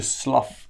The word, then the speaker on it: slough: touch it wasn't soft now we've got this final off pronunciation which is a verb and it's usually a phrasal verb so to slough off to slough off and